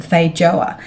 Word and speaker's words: feijoa: Because they're from South America, I think they're pronounced feijoa, but many people in New Zealand and Australia like to call them feijoa, which is probably much